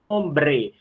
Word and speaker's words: hombre: Porque o H não soa, nós já vimos isso na nossa passada sobre o alfabeto.